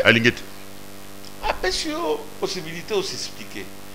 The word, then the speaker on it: Alingete: Bah oui bon, Alingete, c'est ça. Maintenant j'ai bien prononcé. Alingete.